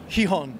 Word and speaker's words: Gijón: And we know we're playing Barcelona and Gijón. Ah, you said it right. This is good. This is good. Gijón, perfect.